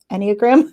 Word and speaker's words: Enneagram: I've not done as much, I'm going to mispronounce it, the Enneagram.